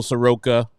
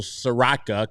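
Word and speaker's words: Soroka: things and there's no Michael Soka Michael saraka God I gotta say his name right because I've been conditioned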